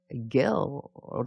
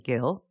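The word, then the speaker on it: guile: 다시 이 발음이 G-U-I-L-E가 guilt라고 하는 거예요. guilt.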